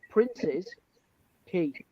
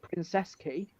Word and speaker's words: Prince's Quay: And the official pronunciation is Prince's Quay. But locally we call it Princess Quay.